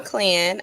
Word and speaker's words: Clen: I'm Clan.